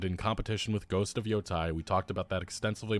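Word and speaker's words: Yōtei: The Japanese pronunciation, Yotei. I was right. Tei, not Yotai. Yotei. Well, there you go. It's pronounced Yotei, so everybody stop pronouncing it Yotei.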